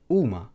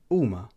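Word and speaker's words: huma: Next, we have the akka, which is also a silent letter in the Maltese alphabet, and this is also not pronounced. So some word examples would be uma, which means they are.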